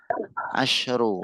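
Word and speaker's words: عشر: Asyru disukun kalau pakai asyru. Kalau asyarah ada taknya itu di fathah.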